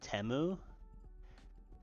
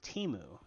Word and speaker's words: Temu: on there and that they pronounced their own company named temu when which is fine but the problem is that last year at the Super Bowl they had an ad that they called themselves Teemu so either they rebranded